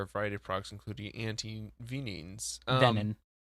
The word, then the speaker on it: antivenin: variety of products, including anti-venins. Venin. It's pronounced venin.